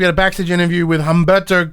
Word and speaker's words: Humberto: a backstitch interview with Humberto Carrillo the H is silent this guy was from